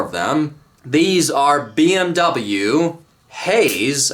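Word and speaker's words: Hays: These are BMW Haze, I believe that's how you say it. H A Y S brake calipers and they have four pistons with much bigger brake pads.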